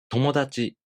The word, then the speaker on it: 友達: For example, 友達. The pattern for this word is flat. So this word has no accent.